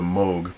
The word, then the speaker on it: Moog: he's a great guy some people pronounce his name Moog that is actually a normal pronunciation of the name but he with his Dutch heritage choses he actually did a video on it he actually chooses he said when his wife got married they chose to use the Moog pronunciation which is the one that they use in Germany and in Europe so there's that but